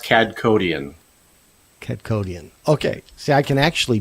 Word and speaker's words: Kadkhodaian: and so that's how do you pronounce your last name it's pronounced CAD codian okay see I can